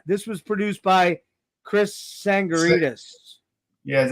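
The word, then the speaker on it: Tsangarides: um this was this was produced by Chris sangaritas yeah is how you pronounce it um sangaritas yeah Chris tangaras yeah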